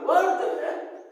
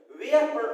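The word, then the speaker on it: were: और वर्ड जो है इसको बहुत से बच्चे वेयर प्रोनाउंस करते हैं, वेयर ने इसको वर्ड प्रोनाउंस करेंगे, वो आर वर वधु वाला है ना।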